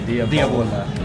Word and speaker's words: Diavola: Did I say it correctly? Diavola. Yeah, you say it with the accent.